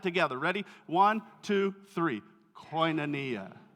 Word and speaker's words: Koinonia: you have probably heard this word before it's pronounced Koinonia let's all say that together ready one two three Koinonia right let's do it one more time one